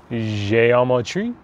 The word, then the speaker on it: Geometrie: and talk about the new gops blend je Amo tree I believe that's how we're supposed to pronounce it given the accents on it nice little nice looking